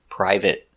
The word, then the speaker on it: private: So they are always pronounced with the it short it sound like private, certificate, chocolate, corporate, and immediate.